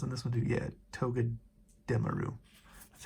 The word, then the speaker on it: Togedemaru: Yeah, Togedemaru.